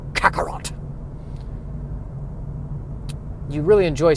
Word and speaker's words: Kakarot: It's got a lot of K's in it. Kakarot. Well, it's got 2 C sounds, Kaka and then rot, and then the T.